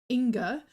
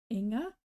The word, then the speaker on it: Inga: I was calling her Inga, and then at the World Championships last year, I heard that it's Inga, like a bit softer.